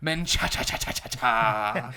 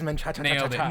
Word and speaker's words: Menchaca: none other than and I believe I'm pronouncing this right menaa yes it is menaa there you go uh yeah you can call